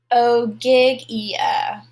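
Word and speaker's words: Ogygia: had landed on oig let me check the pronunciation oh gigia he had landed on oiga the home of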